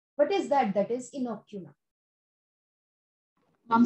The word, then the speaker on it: inoculum: That is इनोक्यूलम. Mom spelling I एन ओ सी यू एल यू एम इनोक्यूलम.